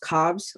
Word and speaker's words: Cobbs: you judge all right my last name is actually pronounced Cobbs with an S I apologize thank you